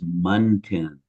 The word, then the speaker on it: muntin: I'm a retired architect, and the way that you pronounce that word is Muntin.